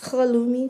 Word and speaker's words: halloumi: And here we have Sainsbury's halloumi cheese. It's actually pronounced halloumi cheese.